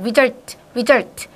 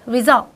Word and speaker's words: result: 릴 발음할 때 해서 혀가 완전히 천장이 다요 result 그런데 영어에서이 L 발음은 혀가 어디에 가야 돼이가 이렇게 있잖아요이가 그러면 요기 다야 돼요 여기 살짝 result result result 제 입이 혹시 보이시나요 result 요렇게 여기에 여기